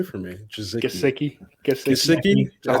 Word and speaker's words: Gesicki: Gesicki. That's how you say it? Yeah. Gesicki.